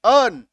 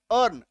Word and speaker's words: earn: तो इस शब्द में ई का उच्चारण हम लोग नहीं करेंगे। क्या पढ़ेंगे? अर्न, ए आर एन, अर्न।